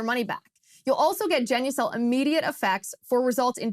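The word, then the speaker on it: Genucel: can get your money back you'll also get genucle immediate effects for results in 12 hours or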